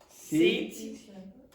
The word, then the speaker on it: city: SE Center sit center now you hear it's like s is how many syllables s how many syllables one to seat center city city center yes it's pretty good also